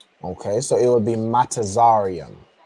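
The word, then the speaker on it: מצרים: Not matazarim, but close. You have the you have the, you know, the foundation of of how you'd pronounce matazaram. Okay. So it would be Matazarium.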